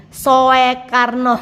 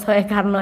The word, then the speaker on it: Soekarno: Nana susah baca ya sowkarno Soekarno Ini bacanya Soekarno Ini adalah ejaan lama tulisan lama ya kita